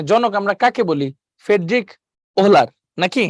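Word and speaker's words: Wöhler: করে দিতে পারি ঠিক আছে আচ্ছা এটা ফ্রেডরিক ভোলার বলি আমরা ওহো লিখতে পারি একই কথা কারণ এটার উচ্চারণটা হচ্ছে ডব্লিউ এইচ এলই আর ফেডলার আচ্ছা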